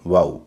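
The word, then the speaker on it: vow: वी ओ डब्ल्यू वाऊ इसमें कुछ लोग गलत कर सकते हैं। वी ओ डब्ल्यू का मतलब होता है शपथ या शपथ लेना। इसको वाऊ कहेंगे वो नहीं कहेंगे।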